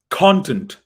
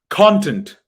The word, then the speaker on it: content: raise your voice on the first part but in the second word you raise your voice on the second part so please repeat after me content repeat after me content i'm sorry i will